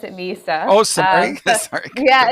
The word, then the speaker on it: Mysa: So um our company name it's spelled MSA but we actually pronounce it Misa.